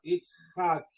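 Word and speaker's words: יצחק: Então a expressão é its. Its, porque este vai não é sonoro. H, ó, it's hack. Essa letra aqui ela é cultural, então fica it's hack.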